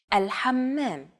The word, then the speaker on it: الحمام: One trick to produce this sound is to push your tongue as far back in your mouth as you can and then say the word hot. It should help you to pronounce this sound.